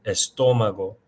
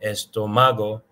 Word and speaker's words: estómago: The same in the middle of the stress of estómago, estómago, not estómago, not estomago. It's estómago.